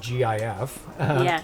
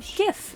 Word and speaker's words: GIF: It's quite an adjustment from Give the gift of GIF. Yeah. Of GIF. Exactly. Jaffix inter Jaffix interchange. That's why there's an argument because it stands for graphics.